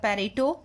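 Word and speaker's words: Pareto: Will study about the पेरेटो optimality. ठीक है, पेरेटो optimality. अब पेरेटो को स्टडी करने से पहले that could also be pronounced as पेरेटो optimality. Different pronunciation है, आप यूज कर सकते हैं.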